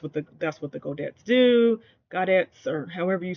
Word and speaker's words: godet: a huge fan of the godets uh go go that they have in uh this skirt I think you pronounced the T on that godet um but I do